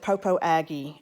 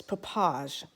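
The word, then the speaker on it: Popo Agie: waterfalls and that papage looks like you would pronounce it popo aggie at least that's how you would pronounce it in the south but no it's papaj so the first time i attempted to well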